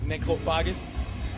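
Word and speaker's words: Necrophagus: Eater of the dead so if you want to pronounce it correct it's like necophagus but I know people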